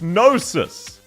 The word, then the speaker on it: Gnosis: It's pronounced Gnosis. Once again, silent letter starts in a fucking N. What's wrong with you? G is one of the goated letters and you made it silent. Gnosis, exactly. It sounds like Moses, but no, it's not.